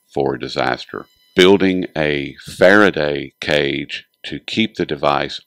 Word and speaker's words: Faraday: And that's quite a bit, but I wanted to start with the Faraday cage. Am I pronouncing it correctly, first of all?